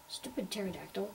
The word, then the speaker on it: pterodactyl: a pterodactyl or something the p is silent the pier is silent Pierce island um the dinos cannot rule the Earth we have to stop them from doing that pterodactyl okay there's a stegosaurus